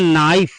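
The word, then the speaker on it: knife: एक ही रूल है जब कभी के के तुरंत बाद एन आ जाए के के तुरंत बाद क्या आ जाए एन आ जाए तब वहां पर के साइलेंट हो जाता है वहां पर के को हम नहीं पढ़ेंगे जैसे के एन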